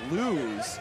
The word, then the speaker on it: Lose: You know, after pronouncing Gavin's last name wrong, because it is Lose, I'm hoping the guy can go totally undefeated in his career, and it's Gavin never going to lose.